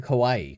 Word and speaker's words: Kawai: But she said her introductory line, "I'm Kawai, Kawaii like kawaii because I'm a Yes.